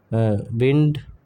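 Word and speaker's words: wind: Clock ठीक है एक होता है विंड र विद सैंड ठीक ठीक है?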